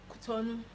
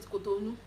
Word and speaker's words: Cotonou: Oh, the only country that I know that I've been to so far is Cotonou.